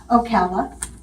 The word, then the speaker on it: Ocala: still is, Kacha, panther, How did they pronounce Ocala? Ocala. Oh, Ocala. The way I saw it, it was actually Ocali, but we call it Ocala now.